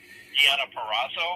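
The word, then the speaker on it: Deonna Purrazzo: Deiona Purazzo. Is that how you say it, Gary? Diana PZO.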